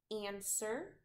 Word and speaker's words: answer: is going to be answer answer is a tricky English word because it has a silent W so we have an